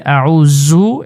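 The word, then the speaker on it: أعوذ: আউজু এটা সবাই এই বোলটা করে আউজু পরে জু জালের উচ্চারণ শক্ত করে আউজু পরে জু হবে না জু নরম করে জিহ্বার আগা থেকে জু একেবারে হালকা করে আউজু আউজুবিল্লাহি মিনাশ শাইতানির রাজীম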